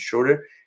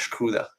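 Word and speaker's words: Schröder: It's not Dennis Schroeder, it's Dennis Schroeder, and I mispronounce it sometimes.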